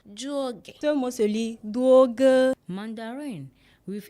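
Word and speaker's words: 多哥: It is pronounced juoge. Ce mot se lit duoge.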